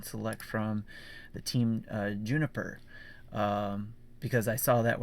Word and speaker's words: JNPR: this and then found out of course it's pronounced juniper so uh me personally